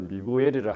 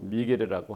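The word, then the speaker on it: Miguel: 미겔 리구엘 발음을 미구엘이라 하기도 하고 미겔이라고 합니다.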